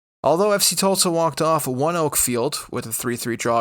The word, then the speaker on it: ONEOK: That is the correct pronunciation, by the way. I had to look it up. It's because the company that acquired the naming rights pronounces its own name that way. That energy company is indeed named One Oak. That's Oneok. One Oak, it's pronounced, and it's actually been